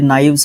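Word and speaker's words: knives: अब देखो जब भी हम बात करते हैं के के बाद जब एन आएगा तो आपका के जो है क्या रहेगा? आपका के जो है साइलेंट एक तरीके से रहेगा।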